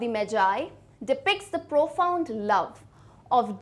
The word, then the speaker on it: Magi: में ये याद रखना, ये मैगी नहीं है ना। स्टार्टिंग में तो जिसने देखा होगा उसको मैगी की याद आ रही होगी, बट हमारी खाने वाली मैगी नहीं है, दिस इज मैजाई। इसका प्रोनाउंसिएशन में ज आता है, ठीक है।